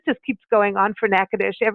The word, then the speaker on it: Natchitoches: to spell it because the way it spelled out and the way you say it are two different things it's na TCH i toc h GS so it's like nacho cheese calm Kelly how are